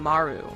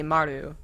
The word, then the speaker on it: Maru: easier for me to say maru which is like a very poor attempt at trying to actually pronounce the r correctly in the you know east asian languages more like an rl anyways i think she just